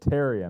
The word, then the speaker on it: Therrien: My last name is pronounced Therrien. It's very Nordic. A lot of people have trouble with it. Therrien.